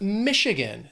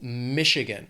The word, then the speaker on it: Michigan: Then we have Michigan. The state has 3 syllables. Stress is on that first syllable, Michigan.